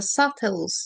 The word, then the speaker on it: subtles: The number two of the meaning of Allah Al-Latif is He knows the minutest details, the subtles. Subtles, B is silent by the way.